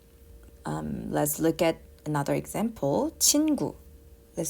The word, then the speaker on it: 친구: 친구. Let's say 친구, which means friend in Korea. So 친구 also has two syllables, right?